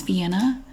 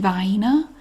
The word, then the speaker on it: Vienna: I do know that that is Vienna but the regional dialect around here people everybody pronounces it by ena and I grew up pronouncing it by ena Vienna sausages these are